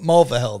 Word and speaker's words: Mulvihill: If you guys watch the show, you know I'm not very good with names, but Mulvihill, that's how you say it.